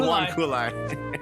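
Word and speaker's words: huanghuali: Is it pine, huanghulai, maple, or oak? Huanghulai is spelled Huang Huali. Huanghulai. Let's go to the Huanghulai.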